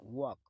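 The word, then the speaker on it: walk: वॉक. वॉक का मतलब होता है चलना, इसमें एल साइलेंट होता है.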